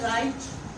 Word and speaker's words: write: डब्ल्यू जब भी आर से पहले आता है तो डब्ल्यू को साइलेंट करार दिया जाता है। फॉर एग्जाम्पल हम वर्ड लिखते हैं राइट, WRITE, राइट।